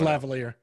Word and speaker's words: lavalier: It's like lavalier or something like that. It's lavalier.